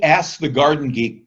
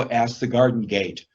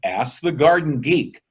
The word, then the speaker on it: Ask the Garden Geek: say, I don't know, Ask the Garden Gate. Make sure you say Ask the Garden Geek. So you go to Alexa and say, Alexa, play the Ask the Garden Geek podcast.